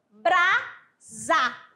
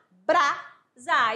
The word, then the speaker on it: brasa: Agora eu tenho aqui o S, a letra é S, mas vai representar o fonema Z. Como assim, amadinha? Porque eu falo brasa, brasa.